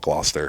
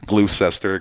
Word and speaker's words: Gloucester: would say Hayes but the town's called Gloucester and it gets mispronounced by every area around it glue sester glue Chester it's right there on